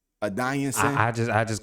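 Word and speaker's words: Adesanya: adonis is that's how you say his name a dying son i just i just call him israel because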